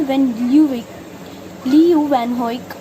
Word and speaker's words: Leeuwenhoek: Later, Van Lee, his name is pronounced as Van Leeuwenhoek, reported the discovery of microorganisms and and disease causing germs.